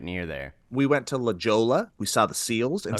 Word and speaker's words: La Jolla: they're great just like puppies it's pronounced it's pronounced lejali and uh they are uh stinky hilarious dumb